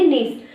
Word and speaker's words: Nice: वो तो हम इंग्लिश में नाइस पढ़ेंगे, लेकिन ये जगह है तो इसलिए यहाँ पर प्रोनाउंसिएशन में हम नीस बोलेंगे। ठीक है। क्या बोलेंगे? नीस।